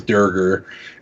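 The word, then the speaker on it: draugr: is a DD reference they initially misspoke and called it the Dierker and so that's canonically how it's pronounced in the game is der ger and that's kind of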